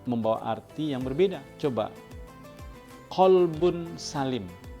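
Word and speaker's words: قلب: berbeda coba qolbun Salim qolbun itu huruf qaf itu artinya qolbun itu artinya hati hati yang damai hati yang tenang hati yang tentram hati yang selamat tetapi kalau kita bacanya kalbun Salim maka kalbun itu artinya adalah anjing Salim itu nama orang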